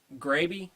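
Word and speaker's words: Graebe: Gravy. Gravy? Okay. Gravy. Okay. Just like Betty Grable, only without the L.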